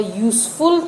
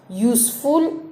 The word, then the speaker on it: useful: We say a useful thing because useful is pronounced with the consonant sound Y.